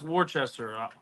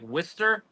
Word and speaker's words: Worcester: ] good well listen it's not pronounced Worchester I mean I was getting flamed for months it's like Jake's probably gonna kill me I'll probably it up now but it's like whester wer yeah Worster it's